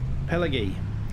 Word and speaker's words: Pallegney: um the new map pel Pelley sorry that's a silent G the church is absolutely